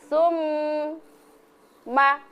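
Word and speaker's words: ثُمَّ: Sum jadi dua ketukan kan. Sum ma jadi summa ya.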